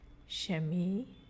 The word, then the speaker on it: Chemie: So when CH is in the beginning of a word, it sounds like SH again. Chemie, chemie.